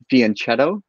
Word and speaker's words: fianchetto: pronounce the italian way the ch in italian like that is pronounced like a k yeah yeah so ever